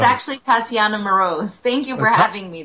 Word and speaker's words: Moroz: your name right and uh it's actually Tatiana marose thank you for having me though T Tatiana